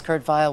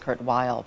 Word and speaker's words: Kurt Weill: when he was in when he was German when he lived in Germany it was Kurt vile when he came to America he wanted it pronounced Kurt Weill but um anyway yeah